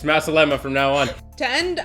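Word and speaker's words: مع السلامة: say bye in arabic masala no what did you say that's the lemma masala masala it's masalema from now on to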